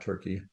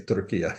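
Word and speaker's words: Türkiye: had a very um notice I say turkey and not turkey a few years ago they they proclaimed in the government that they hope that an English internationally people use uh that pronunciation so we we do as they wish so I say turkey now instead of turkey uh anyway um so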